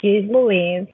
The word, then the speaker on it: Jeez Loueez: find you cool okay so my name is G Louise and I swear to freaking God I'm going to spell it for you people and if you like